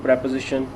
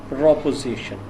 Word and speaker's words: proposition: careful about its pronunciation it's not preposition it is proposition it is a noun